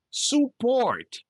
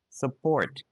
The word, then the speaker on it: support: Don't say support, suggest, success. Say support, support. Suggest, suggest. Success, success.